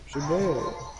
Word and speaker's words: Shabazz: Shabazz? With a Z at the end, two Z's. Shabazz. S-H-U-B-A-Z-Z.